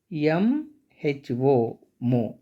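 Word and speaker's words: mho: unit of electrical distance that's why it is generally pronounced as reverse direction m ho mo so therefore the very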